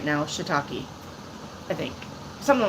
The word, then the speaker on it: shiitake: Shiitake.